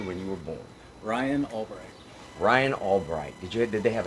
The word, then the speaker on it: Albrecht: Oh, no, but Albright is spelled with an O. But It's I was thinking. well, it's ALBRECHT, not the RI.